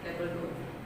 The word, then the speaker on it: table d'hôte: Table D, terus koma di atas hotel. Table d'hôte, bacanya ada tulisan table d'hôte, itu adalah a la carte.